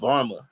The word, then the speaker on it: Varmah: it's Varma.